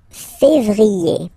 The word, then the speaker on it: février: Then comes février, février. Okay, remember when you have this accent aigu on the top of then you pronounce it E, okay?